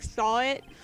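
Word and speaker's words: Sahwit: we saw it wait his last name supposed to be pronounced like saw it like he saw it Oh my God I'm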